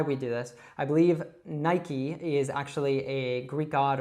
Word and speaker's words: Nike: And let's take a look at how Andrea would say this, because in the UK they pronounce it differently. In England, we say Nike. Nike.